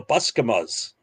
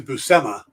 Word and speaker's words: Buscema: people going around going oh i love the bus commas oh see i was close to buscema is how i pronounced it yeah so that's yeah um but